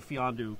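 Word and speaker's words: Mfiondu: I would say Fiondu Kabengele is the guy, and that's how it's pronounced, by the way. Well, look at this guy showing off over here. Fiondu, the M is silent.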